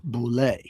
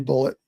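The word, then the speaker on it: Bulleit: Yeah, and I always thought it was pronounced Boulet, but in the movie, it's pronounced Bullet. It is Bullet.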